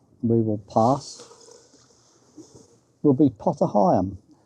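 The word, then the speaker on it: Potter Heigham: And the next place we will pass will be Potteryam. Although it's been suggested to me, but it's not actually pronounced Pottery. Apparently the locals call it Potterum which is no surprise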